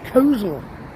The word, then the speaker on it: Coleshill: Birmingham and so on they don't call it the way they pronounce it is Kosal Kos I don't know why